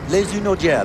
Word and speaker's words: Hunaudières: Here they are past the Hunaudière. Is that the right pronunciation? Yes, Les Hunaudières.